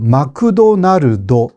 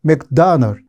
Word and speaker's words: 맥도날드: 그자 차체가 그래 에서 예를 들면 맥도날드 이것도 잘 발음을 못 하거든요 어 마그도나르도 이렇게 말합니다 이게 이해하기가 어렵잖아요 물론 맥도날드 이것을 실제로 용어를 하면 조금 더 다르기는 해요 맥도널 이런 식으로 말하니까 한국말에 문제가 없다라는 이야기는 아니지만 훨씬 원래 발음에 가깝죠 자음으로 끝나는 말들이 한국어는